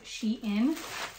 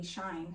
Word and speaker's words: SHEIN: actually you guys I've been calling this brand she in Forever I mean it made sense she n it's not spelled like properly shine so anyway so these